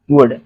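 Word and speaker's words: would: अब सेम जैसे यहाँ पर कुड था तो यहाँ पे भी वुड हो जाएगा, ठीक, क्योंकि इसमें भी एल साइलेंट है। ओके, तो यहाँ पे हम क्या पढ़ेंगे इसको, वुड।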